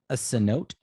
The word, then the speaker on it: cenote: But it is. It's like cenote.